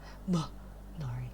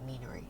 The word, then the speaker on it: Minari: Minari. It's Minari. Or Meanery. I've had people call me Meanery. And it's like, your emphasis is on the wrong syllable.